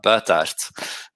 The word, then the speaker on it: Buytaert: call me trees but if you wanna know it's pronounced uh bertart but um either way